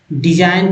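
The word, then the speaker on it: design: का जी साइलेंट है डिजाइन का जी साइलेंट हुआ फॉरेन का जी साइलेंट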